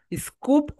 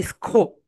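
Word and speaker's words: scope: স্কুপ অর স্কোপ? স্কোপ। স্কোপ কেন বলো তো? কারণ এস এর পরে সি হয়েছে, তাই এখানে খাউচার না হয়ে কাউচার হয়েছে।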